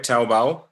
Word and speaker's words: Taobao: Taobao?